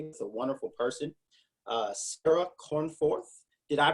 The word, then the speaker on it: Cornforth: an interview today with a wonderful person uh Sarah cornforth did I pronounce that correctly Sarah you did perfect yes